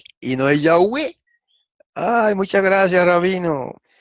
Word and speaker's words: Yahweh: La misma pregunta, el rabino yemenita le hubiera dicho, no, como se dice es Yahweh, ¿verdad? Porque ellos lo pronuncian como se pronunciaba antiguamente el hebreo.